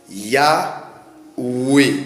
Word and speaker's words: Yahweh: Alors, on peut le dire aussi Yahweh parce que le Vav peut encore, ou le Wav peut encore se lire le OU. Et le H se lit le E comme je l'ai dit.